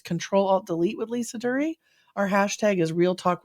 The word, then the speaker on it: Duerre: It's Duerre. I tell people it rhymes with jury.